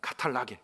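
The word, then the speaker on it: καταλλαγή: 여러분, 본문에서 사용된 화목이라는 단어를 좀 보면 화목이라는 말은요 헬라어로 카탈라게라고 발음합니다. 카탈라게.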